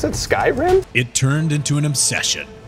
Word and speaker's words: Skyrim: wait another year for that that's how you pronounce it Skyrim it turned into an obsession shut up Max